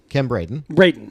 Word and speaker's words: Braden: I can't pronounce what I keep wanting to say Biden, and it's not Biden. Mm-hmm. Baden, Chief Kim Braden.